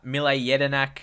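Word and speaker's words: Mile Jedinak: year Australian player uh mle yedinak that's how you pronounce his name I'm not surprised some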